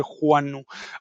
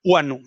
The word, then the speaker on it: guano: guano critica el el la forma en que se pronuncia guano que todos lo conocemos como guano pero aclara que correctamente Debería ser Juano huano bien esta esta nota